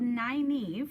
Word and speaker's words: Nynaeve: And it's called Nynaeve, and it is spelled, I don't know if you can, is this make it backwards?